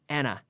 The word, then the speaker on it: and a half: always the pronunciation there we always run those sounds together we don't say and a half we say Ana a day and a